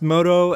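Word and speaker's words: Modo: seven we have moto I assume you pronounce this as moto as moto is another word and I don't really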